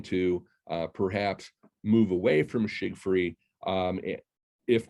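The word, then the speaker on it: Tschiggfrie: A number of people have asked how that's pronounced. I've been told it's shig-free properties.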